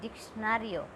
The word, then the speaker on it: diccionario: This will be sound K, this will be sound S. D-I-K, Diccionario. This is how we pronounce it. Diccionario. I told you in my previous lesson that C has two sounds, which is K and S. So in dictionary, both the sound is there.